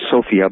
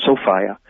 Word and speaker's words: Sophia: a mythological being Sophia that's the woman's name Sophia but pronounced Sophia and so fire was